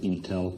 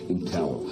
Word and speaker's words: Intel: Can I but in and ask you to pronounce it Intel? Intel. What did I say? Intel.